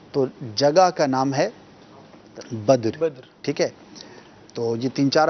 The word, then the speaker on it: بدر: تو لفظ جو ہے وہ بدر ہے, بدر نہیں ہے. یعنی کہ دال کے اوپر زبر نہیں پڑھنا بلکہ دال کے اوپر جزم پڑھنا ہے.